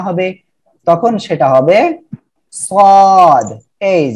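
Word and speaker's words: ص: সাদ এর মাথা দিয়ে টোটাল দুইটি অক্ষর আমরা উচ্চারণ শিখব এবং চিত্র দেখব, খেয়াল করেন। ওকে, এটা হলো সাদ এর মাথা। যখন সাদ এর মাথা শুধুমাত্র খালি অবস্থায় আসবে, কোনো নুক্তা না হবে, তখন সেটা হবে সাদ, এই যে, ঠিক আছে?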